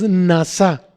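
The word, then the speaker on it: נשא: acepciones hebreas la palabra exaltado es Nasa en es a con acento en la a y quiero tocar nada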